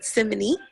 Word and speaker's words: Simene': I said it right, Simene.